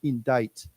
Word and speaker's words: indict: IND indictment yes so I don't know why they have the C there it's kind of strange but yeah it's it's indite okay okay so let's